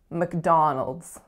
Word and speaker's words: McDonald's: look then we have dawn with our vowel oo which is that low back foul and then the final syllable is Knowles Knowles so a schwa going right into that dark L McDonald's next up we have